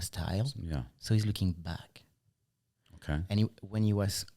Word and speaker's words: BAAK: And for us in French, back, B-A-A-K, and back, B-A-C-K, it's pronounced the same.